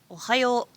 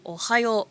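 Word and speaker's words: ohayou: before in sense in ohio we are just stretching out that o pronunciation in general these phrases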